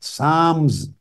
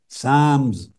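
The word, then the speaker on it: psalms: इसमें एक बाब है साम्स लिखने में पी एस ए एल एम एस लिखते हैं मगर पी और एल दोनों साइलेंट होते हैं साम्स यह मुनाजात का चैप्टर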